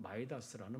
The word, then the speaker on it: 미다스: 이때부터 미다스, 영어식으로 발음하면 마이다스라는 말은 탐욕, 과욕 이런 것을 상징하는 말이 되었고 미다스의 손 또는 마이다스의 손이라는 말은 돈 버는 재주를 가졌다는 의미로 사용되게 됐습니다.